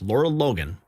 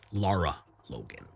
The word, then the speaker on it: Lara Logan: Just hours ago, federal whistleblower Colonel Timothy Shin Shind Chindelier went on camera with Laura Logan. Brian, take it over. I I I I mispronounce those things. It's Lara Logan, we're going to do another take, guys.